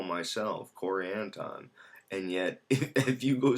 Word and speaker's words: Anton: And yet, if you go speak with someone from my family, they'll pronounce it Anton. And it's really interesting. It's not phonetically, or there was a word, there was a letter that was dropped, and all of this sort of stuff.